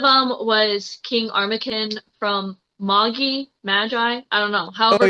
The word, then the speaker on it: Magi: So one of them was King Armakin from Magi. I don't know, Oh however yeah, people pronounce it. pronounced Moggy.